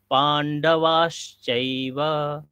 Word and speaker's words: पाण्डवाश्चैव: কিমা কুরবাতা সঞ্জয় পান্ডবাসচাইব এখানে তালবেশ আছে তিনটা স আছে দন্তেস তালব্যশ মুদনাস উচ্চারণ তিনটা আলাদা আলাদা হয় স তাহলে এখানে তালব্য স আমাদের উচ্চারণ হবে পান্ডবাসচাইব এরকম হবে তাহলে আপনারা একবার পড়ুন আমার